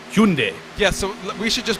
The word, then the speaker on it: Hyundai: In other parts of the world, it's Hyundai or Hyundai. Hyundai. So yes. And I imagine if you're in Korea, it's like Hyundai.